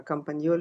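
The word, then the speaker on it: Campagnoli: Uh compani is spelled C A M P A G N O L I.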